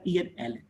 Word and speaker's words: ALLEN: लक्ष्मी नारायण को बोले तो L.N. माहेश्वरी, L.N. को एक साथ मिला के बोले तो प्रोनाउंस करके वर्ड बना एलन, और इसकी स्पेलिंग लिखें तो ALLEN एलन, ऐसा नोमेनक्लेचर हुआ।